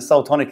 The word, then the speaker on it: Seoul Tonic: with that name like everyone should understand that Soul tonic is spelled like Soul as in not as in